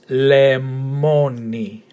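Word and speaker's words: λεμόνι: So slowly is lemoni. Lemoni. Okay. The emphasis in the second syllable.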